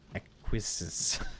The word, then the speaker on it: acquiesce: And suddenly, physics acquiesces. Physics acquiesces. DuckDuckGo.